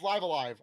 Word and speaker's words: Live A Live: that was shown was live a live so we talked about live live live live i think it's live alive i think i've been